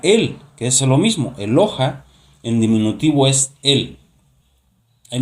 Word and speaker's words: Eloha: Y la palabra que originalmente habla de singular Dios sería Eloha. ¿Sí? Se escribe de la siguiente manera.